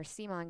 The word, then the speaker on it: C'mon: is doing they're like changing the way you pronounce CMON to C'mon. Is that right, Raya? C'mon Games. That's the new way that everybody's going to be saying it. C'mon. It's We're doing C'mon.